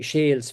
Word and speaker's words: Shiel: Another example now would be Shales Field. So this would be the local traditional pronunciation of the surname Shiel. Shale, certainly in the Midlands anyway.